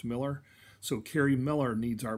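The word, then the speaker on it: Mueller: name is carrie miller it's spelled m-u-e-l-l-e-r but pronounced miller so carrie miller needs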